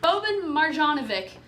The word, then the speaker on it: Boban Marjanovic: Boban Marjanovic.